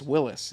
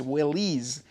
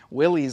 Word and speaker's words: Willys: Well, I started calling it Willis, and then people said it's Willys. Willys, like Phillies with a W in front of it.